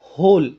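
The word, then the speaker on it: whole: आगे पढ़ेंगे द होल। दोस्तों इसे वोहल नहीं बोलते। इसे बोलते हैं होल। एच जो डब्ल्यू जो होता है इसमें साइलेंट होता है।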